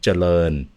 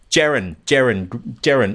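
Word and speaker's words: เจริญ: That's the reason why I said I think you're thinking of the spelling is because I know when they spell it in English, it's like an O-E-N at the end. Yeah, Charoen, yeah. Yeah, right. So I think you've got that E somewhere subconsciously popping up, but it's coming up first.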